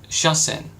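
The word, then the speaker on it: 車線: And you see, sha is the pronunciation of the first kanji, which we just had here above, which was pronounced kuruma. But in the combination, we use the Chinese reading of the kanji, which would be sha in this case.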